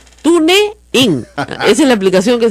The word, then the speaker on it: TuneIn: TuneIn. Mira, así no se dice, se llama TuneIn. Pero para que usted entienda en castellano así, TuneIn.